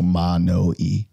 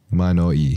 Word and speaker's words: Manoi: So it's Hawaiian. So like each vowel will be pronounced specifically. So Manoy. Manoy.